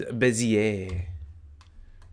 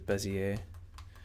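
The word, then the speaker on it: Bézier: select and B is bezier or however you pronounce that I believe it's bezier it's probably a French word because leave it to the French to have goofy words coming from someone who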